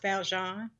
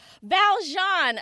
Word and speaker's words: Valjeanne: gonna i'm gonna make a small correction it's pronounced valjean valjean okay thank you for saying that y'all it's